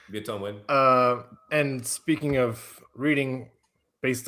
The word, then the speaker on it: Viet Thanh Nguyen: I might be mispronouncing that. I think it's pretty close. Yeah, that's good. Yep, okay. That's right. Viet Thanh Nguyen.